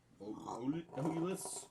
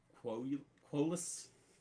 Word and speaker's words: Quolus: The area surrounding the town of Oulas, I guess, was an ideal location. At the time, the Republic intelligence indicated... Oh, it's a Q. I was pronouncing it wrong. Quolus is what it is.